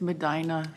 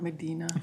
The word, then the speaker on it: Medina: It's Medina, not Medina. Thank you.